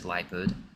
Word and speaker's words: Liepard: It's like leopard with an I. I think it's Liepard.